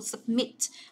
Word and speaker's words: submit: Thế còn cái này đọc là submit, mình nhấn vào âm thứ hai cho cô submit.